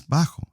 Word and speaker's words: bajo: Bajo, this guy is bajo. O baja for a female. Bajo, the J sounds like a H.